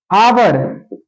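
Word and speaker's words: hour: आवर, एच ओ यू आर, आवर, इसे हावर नहीं पढ़ेंगे, अगर हावर यहां पढ़ते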